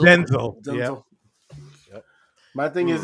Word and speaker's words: Denzel: It's not Denzel, it's Denzel. Denzel.